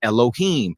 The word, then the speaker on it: Elohim: people meaning the judges were called alayam which some people pronounce as Elohim these are the rulers